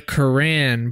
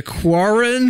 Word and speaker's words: Quran: Sorry about the Quran part there. Anybody who, what did I call it? The Quarren? The Quarren. Look, it does, phonetically spelled, it does look like Quarren.